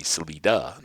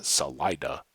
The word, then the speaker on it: Salida: colorado which of course in spanish is exit uh but then it would be celida not uh salida and that's kind of the colorado um colorado version so if you